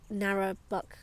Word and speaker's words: Narrabeen: We started off by, we were staying in an area called Narrabeen. Yeah, spelled with a G. Narrabeen Beach, spelled with a G. So Gnarabeen almost. I don't know what the silent G thing is.